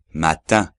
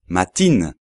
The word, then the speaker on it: matin: es mañana lo repito matin sobre todo igual que para la primera nasal no hay que decir matin sino mat segundo ejemplo ma ma